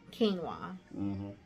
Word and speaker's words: quinoa: it had some crunchy quinoa. Quinoa. I had to make sure I said it right because I like to call it quinoa.